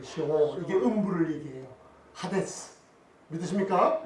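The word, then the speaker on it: 스올: 가로되 내가 받는 고난을 인하여 여호와께 불러 아뢰었사오니 주께서 내게 대답하셨고 내가 수월의 뱃속에서 부르짖었사오니 주께서 나의 음성을 들으셨나이다. 아멘. 물고기 뱃속인데 요나가 뭘로 표현해요? 수월. 이걸 영어 그 히브리어 발음으로 셰올이라고 그래요. 셰올.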